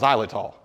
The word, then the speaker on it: xylitol: I'll put a link to the names down below, but it's pronounced xylitol.